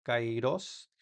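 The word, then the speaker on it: καιρός: Y la capa se pronuncia como nuestra k en español, como en esta palabra cairos.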